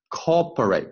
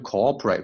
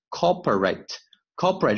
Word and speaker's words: corporate: Is there anything about 这个 T 要注意 corporate 不要读成 cooperate OK corporate 这个 T 非常弱 corporate decisions and financial